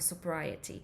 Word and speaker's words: sobriety: dopiero po jakimś czasie się nauczyłam, że się wymawia go sobriety.